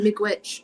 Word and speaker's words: miigwech: and miigwech to Sabrina.